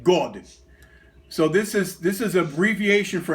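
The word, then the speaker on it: год: Now, if you the Russian word for year is pronounced God. So this is abbreviation for 1953 God, 1953 year.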